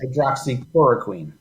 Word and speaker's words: hydroxychloroquine: Hydroxychloroquine? Yes. Hydroxychloroquine.